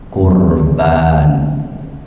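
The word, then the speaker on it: قُرْبَان: amin ya rabbal alamin hurufnya tiga Q ro ba bacanya qoruba yaqrobu qurban artinya dekat jadi dekat bahasa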